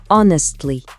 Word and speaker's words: honestly: bien sincère, on a honestly. C'est comme si on disait "Attention, là je vais dire ce que je pense vraiment". Pour le prononcer, on met l'accent sur le début.